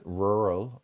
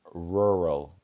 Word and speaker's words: rural: And then we have rural. Quite a difficult word to say for anyone who has trouble with ores. Rural. Rural.